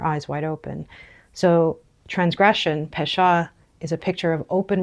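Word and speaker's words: פשע: The word for transgression is pesha.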